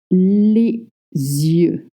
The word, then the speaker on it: les yeux: Les yeux. Les yeux. What is this weird sound? Well, it means the eyes in French, and it's pronounced les yeux with a Z sound.